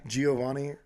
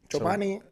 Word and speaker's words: Giovani: They, you know, the yogurt Chobani, that's my name at work. Why? Giovani. Chobani. That's how they say my name.